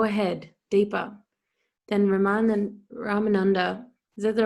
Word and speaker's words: Ramananda: also superficial go ahead deeper then remind them ramananda is that the right way to say it